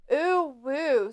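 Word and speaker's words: uwu: that's a twitch thing it's literally pronounced oo woo spelled like u w oo woo maybe anime I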